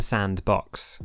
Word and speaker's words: s&box: s and box samper sandbox i know where you're trying to be clever with your fancy brand name it's pronounced sandbox and this is a